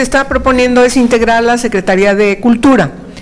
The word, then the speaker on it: Secretaría: Y a la Secretaría de Cultura. Acento en la Secretaría.